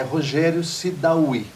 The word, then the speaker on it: Rogério Sidaoui: É Rogério Sidawy, é isso? Isso. Desta forma que você pronuncia? Dessa forma mesmo.